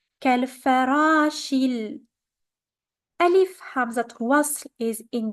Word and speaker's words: كالفراش: So we're gonna pronounce it كالفراش. Ra is longer because of the alif. كالفراش.